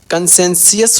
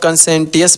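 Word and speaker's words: conscientious: इसको प्रोनाउंसिएशन देखिए कैसे होता है। कंसेंसियस होता है। यहाँ पे कोई कितना लोग कंसेंटियस पढ़ता है? कंसेंसियस होता है। यहाँ पे टी साइलेंट होता है।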